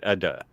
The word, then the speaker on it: ada: What's does ada mean? And then am I saying it right? Ada.